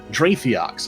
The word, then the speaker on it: Drathiox: going to attempt this, Drathiox, I believe is how that is pronounced. Yes, okay, I got that one right.